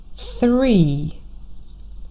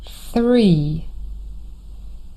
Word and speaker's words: three: And maybe up until now, you were a little bit tempted to say s instead of the.